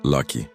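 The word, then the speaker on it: Lak-Hui: Así nació Lakhui Chemical Industrial Corp., pronunciado Lucky, una pequeña empresa ubicada en un edificio modesto de Seúl.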